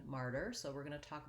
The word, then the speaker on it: martyr: about this because of the difference between the ma vowel in matter and the r diphthong in martyr so we're going to